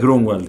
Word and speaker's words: Grunwald: Lleva 2 puntitos en la U y significa bosque verde en alemán. Así que es como Grunwald o algo así, pero es Grunwald y ya.